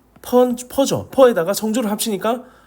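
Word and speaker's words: phở: 쌀국수 퍼죠? 퍼 들어보셨나요?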